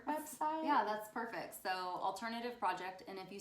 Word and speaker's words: Alternativ: Alternativ. So there's no E on the end of alternative. It's an alternative spelling. Hey, like Spanish, the E is silent.